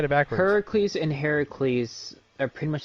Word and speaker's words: Heracles: Yeah, it's pronounced Heracles. Did you know that? Did you know Hercules is pronounced Heracles? Hercules is the Roman name for Heracles.